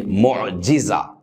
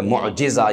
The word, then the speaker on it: معجزہ: معجزہ کا لفظ اصل میں معجزہ پڑھا جاتا ہے، اس کا جو صحیح تلفظ ہے معجزہ، یہ اسم فاعل کا